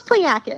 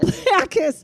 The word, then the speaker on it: Pliakos: We have Pliakos, right? Didn't I say it right? I got it? Close, Pliakos. Pliakos.